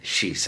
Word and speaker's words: Llys: I keep on the pronunciation of Llys. Shis. I always want to go shis, and it's actually shis, I think.